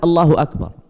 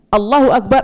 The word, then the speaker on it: Allahu Akbar: Takbir itu diucapkannya Allahu Akbar, ba-nya pendek.